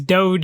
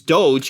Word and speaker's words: Doge: I think it's Doge. I think it's Doge, but I keep calling it Dodge because my brain doesn't read it like that.